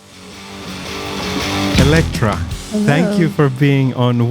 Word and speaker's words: Alectra: do you pronounce it Electra Electra yes how do you pronounce it if it's e Electra Electra Electra so Electra yeah I like that M